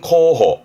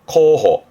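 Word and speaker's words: 候補: 발음은 코호, 코호.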